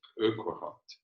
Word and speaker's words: Urquhart: How do you pronounce that word? Urquhart.